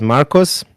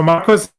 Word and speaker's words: Marcos: So Marcos pronounced correctly, but when you address me, you just use Marco without the S. It's a specific Greek grammar case, a little bit like